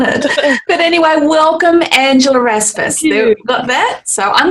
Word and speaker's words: Raspass: It's actually pronounced Raspass. The emphasis is on the first bit, but it's a weird name.